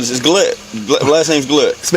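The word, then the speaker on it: Goulet: My middle name is Glette. Last name's Glette. Spell it.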